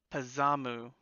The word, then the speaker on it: Pazamu: you want to leave Dorothy with I've actually been saying her name wrong. It's Pazamu, but I like Pazuzu better.